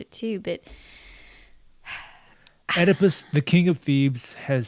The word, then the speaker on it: Oedipus: even gonna try anymore it's it what Oedipus Oedipus yes Oedipus I'm going to call him that